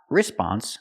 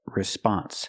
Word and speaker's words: response: in a few minutes remember response not response but response put the stress on the second syllable this is also not